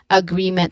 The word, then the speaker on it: agreement: Okay, so that is agreement. Now, pronunciation wise, look at the pronunciation. We start with a schwa sound.